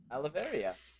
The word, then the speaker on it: Aloeveria: Aloeveria.